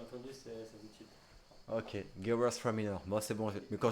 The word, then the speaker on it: Gewürztraminer: j'arriverai pas à le prononcer. Non, répète. Gewürztraminer. Gewürztraminer. Gewürztraminer. Ouais, c'est Gewer Straminer.